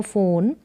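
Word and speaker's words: phone: pick up द फोन पी एच यानी कि फ इसका उच्चारण है पिक अप द फोन फिर वापस से पिक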